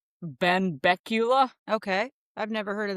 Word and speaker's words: Benbecula: It happened in, God, I had the pronunciation right. Benbecula.